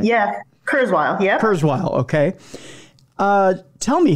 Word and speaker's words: Kurzweil: Is that how you pronounce his last name? Am I getting that right? Yeah, Kurzweil.